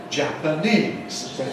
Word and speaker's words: Japanese: Japan, with the adjective Japanese. Japanese. Notice the vowels. A in Japan, where pan is stressed, but in Japanese. Japanese, where the first syllable, the Japanese stress, Japanese, and Japanese.